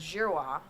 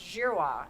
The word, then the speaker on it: Girouard: Behind closed doors, my grandmother always said, is Jirwa. I mean, our name is pronounced Jirrowa in French.